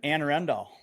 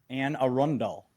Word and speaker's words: Anne Arundel: It has been Anne Arundel. No. Anne Arundel. There, better. Is that right? I used to say Anna Arundel, but it's Anne Arundel.